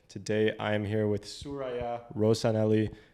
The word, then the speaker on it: Sooraya: Today I am here with Sooraya Rosanally. Is that how you pronounce the name? Close. Close. How do I do it? Please correct me. Sooraya. Yeah. Sooraya Rosanally.